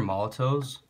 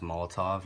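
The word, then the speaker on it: Molotow: based um these are Molotov as I said in my other video if it's still up I think it's pronounced Molotov or some people at least pronounce it that way uh these are paint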